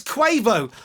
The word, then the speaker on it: Quavo: It's Quavo. I don't know. It's spelled Quavo.